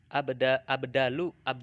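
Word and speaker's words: إبدال: Abdalu bukan abadul ya, abdalu harfi biharfin.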